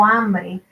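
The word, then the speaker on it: hambre: couldn't say his once the h is silent in spanish and he always tried to pronounce it um like when he would say um i'm hungry in spanish it's called tengo ambry and he would say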